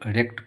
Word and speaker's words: wrecked: The ship was completely wrecked। दोस्तों यहाँ डब्लू जो है ये साइलेंट है। इसका जो वर्ड जो डब्लू है साइलेंट है, इसको रेक्ट पढ़ा जाता है।